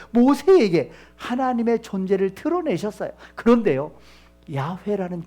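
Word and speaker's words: 야훼: 야회라는 그 이름을 하나님이 알려 주신 그 이름을 감히 피조물인 존재가 어떻게 감히 그 이름을 부르느냐? 그래서 기록을 야회라고 하고요. 읽을 때는 어떻게 읽은 줄 아셔요?여 아도나이라고 읽었습니다.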